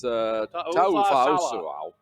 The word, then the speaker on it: Ta'ufa'usua: Coach T, and it's one of those Samoan names that you got to pronounce every vowel when you go through it, and you just have to put your mind to it.